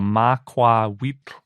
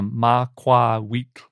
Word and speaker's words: macuahuitl: is closest to a macuahuitl. That's as best as I can pronounce it. It's got that nahuatl lateral fricative at the end of it, so it's kind of tricky to pronounce.